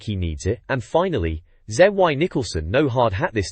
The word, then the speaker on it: Zy: Mario 64 the fastest zy pronounced Z apparently is timing people with